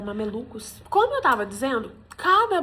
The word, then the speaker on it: mamelucos: Gente, eu fui olhar as minhas anotações pra eu conseguir pronunciar eh, malaleucos e aí eu vi que não era malaleucos, era mamelucos.